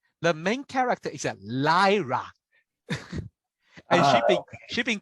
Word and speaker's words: Lyra: there are few reason because I know it's a liar. A liar. Lyra. That's why that's my pronunciation, because I will make it a liar.